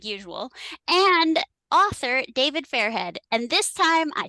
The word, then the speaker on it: Fairhead: well Ryan Bennett like usual and author David fairhead and this time I said his name right